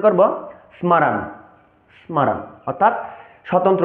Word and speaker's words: স্মরণ: বাংলা উচ্চারণের ক্ষেত্রে এই শব্দক গঠনম কে আমরা উচ্চারণ করব স্মরণ যদি আমরা সংস্কৃতের ক্ষেত্রে উচ্চারণ করতে যাই তাহলে তবে আমরা উচ্চারণ করব স্মারণ স্মারণ অর্থাৎ স্বতন্ত্র উচ্চারণ করছি স্মরণ এবার আসছে